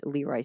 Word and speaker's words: LeRoi: The second time, she was married to a man named LeRoi Smith. So I think it's LeRoi anyway.